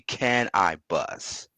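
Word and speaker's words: Canibus: Oh, Cannabis. After you put 4, 3, 2, 1. Cannabis. That was my favorite battle. Can I Bus? If you say his name slowly, it's actually Can I Bus.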